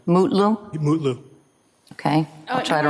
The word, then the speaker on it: Mutlu: Is it Metlu or Mutlu, or how do you pronounce his last name? Mutlu, Your Honor. Mutlu?